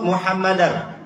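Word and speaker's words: مُحَمَّدًا: kita membacanya sekali lagi kalau pakai Anna itu muhammadar dengar ibu sekali lagi nih biar jadi nancek di hati kita allah waadu anna muhammadar rasulullah karena ada Anna ingat ada Anna kalau kita belajar Har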